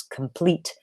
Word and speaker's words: complete: I can see that she thinks complete has three syllables and is stressed on the first when in reality it has two syllables and is stressed on the second but that already tells